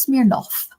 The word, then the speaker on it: Smirnov: Alexander Smirnov, pronounced Smirnov, was arrested this week for lying to the FBI and Commerce Committee.